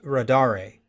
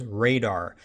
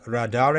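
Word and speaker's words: radare2: and yes the name of the toolkit is pronounced rad re most people including myself assume and pronounce the toolkits name as radar but the author of the toolkit calls it rod are a DOS I would expect most people to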